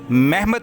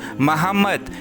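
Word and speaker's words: מחמד: इस लफ्ज़ को हेब्रियो में महमद पढ़ा जाता है, लेकिन बेन यहूदा की हेब्रियो इंग्लिश डिक्शनरी में इस लफ्ज़ की असली प्रोनाउंसिएशन मोहम्मद बताई गई है, जो कि लफ्ज़ मोहम्मद से बिल्कुल मिलती जुलती है।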